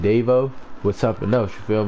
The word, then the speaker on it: Davo: Davo is spelled like Quavo, only without the U and without the Q. It's D-A-V-O.